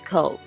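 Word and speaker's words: Köln: is the English and French version the German pronunciation of the city's name is Cove home to some 1 million people is one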